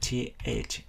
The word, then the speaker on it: thirsty: Để phát âm âm T-H trong trường hợp này, chúng ta để lưỡi kẹp giữa hai hàm răng và chúng ta đẩy hơi đều ra. Ok, thirsty.